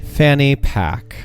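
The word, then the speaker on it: Fanny Paque: Ladies and gentlemen, please welcome to the stage Fanny Pack. Fanny Pack. Pack is spelled P-A-Q-U-E.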